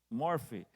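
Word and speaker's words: enmorphe: Eu encontro, vem com esta palavra em morfe. Eu acho que se pronuncia com F, né?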